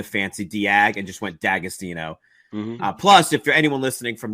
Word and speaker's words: D'Agostino: they sell in Ohio it's pronounced dagostino um but the apostrophe throws everybody off it's is the easy way to pronounce it yep austino is it yeah I think technically it's supposed to be di austino but uh I think